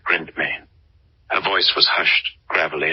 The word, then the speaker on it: Ghryndtmaen: She pronounced her name like Ghryndtmaen.